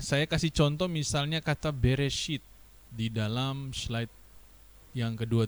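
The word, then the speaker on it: בראשית: Ya, jadi ketika dibaca dia membaca menjadi B E R E S H I Y T menjadi Bereshit. Jadi cara bacanya seperti yang saya beri tanda emas.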